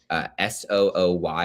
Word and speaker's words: Sooy: get confused by is Somerset County Commissioner Sarah Sooy. S-O-O-Y is a sort of interesting spelling for her last name, but that's pronounced Sooy.